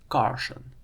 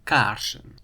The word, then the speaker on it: Carson: His name, however, is Carson. Or he's American, so Carson, not "kaarsen". To get the ah sound